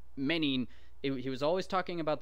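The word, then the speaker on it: μῆνιν: And in Greek, I do know this, that's menin, all right, which is like menace.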